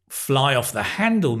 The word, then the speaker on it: fly off the handle: So nowadays we say fly off the handle means to get angry and to lose control, right? Notice the pronunciation with the stress. Fly off the handle.